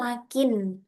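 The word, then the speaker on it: لكن: tadi ee ini bacanya itu lakin. Karena kenapa? Karena kata setelahnya adalah fi'il madhi.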